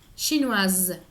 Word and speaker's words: chinoise: francés o en chinois, cuando escribimos la E, que nos va a marcar en el escrito el femenino, esta letra nos hace pronunciar la letra que está antes. Entonces tenemos française, chinoise. ¿Sí? Comparen, chinois, chinoise, français, française.